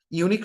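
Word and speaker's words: unique: আসেন, ইউনিক শব্দের উচ্চারণের শুরুতে ইউ আছে, কাজে এখানে এন হবে না, এ হবে।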